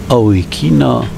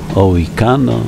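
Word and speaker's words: Owikeno: Ralph Point a drugi o weekeno Point przy wejściu do tego Hardy in LED o weekeno to dosyć często występująca nazwa na tych terenach wymawiana jest także jako ohikino ołykano o weekenno a nazwa pochodzi od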